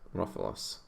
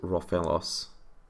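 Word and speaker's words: Rofellos: I wonder if the opponent realized I could bounce this Rofalos. I know it's probably pronounced Rofelos, but hey.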